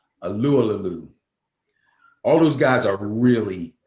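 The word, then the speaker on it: Tyson Alualu: Alulalalu.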